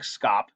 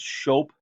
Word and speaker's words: scop: There's the Shope. That's a bard or storyteller. I know it looks like scop. It's pronounced Shope.